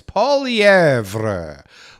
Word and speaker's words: Poilievre: And if Polev comes into. His name is not Polev. It's Poilievre. Poilievre. It's not Polev.